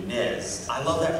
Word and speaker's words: NES: So, the Nintendo Entertainment System, or NES, and I'm one of those weirdos who pronounces it like the Brits do, NES. I love that pronunciation. Most people will say NES after their account character.